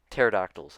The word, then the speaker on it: pterodactyls: right so like the the p is silent that i literally have in the title of this video pterodactyls that's what they're called